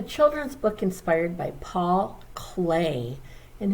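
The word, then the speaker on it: Klee: book inspired by paul clay and his name looks like it would be pronounced clee but it is clay by geraldine elshner and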